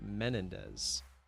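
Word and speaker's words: Menéndez: Menendez? Usually it's just Mendez. We got that extra en in there. So since you're saying Spanish pronunciation and with the last name, I'm gonna assume you pronounce it Mario. So Mario Menendez. Correct.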